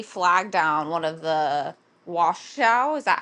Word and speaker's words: Washoe: site, and somebody flagged down one of the Washoe, is that how you say it, county cops, I and don't know the they county's name, but yeah. it's like Washoe or something. It's Washoe, Washoe County, and they flagged him down, and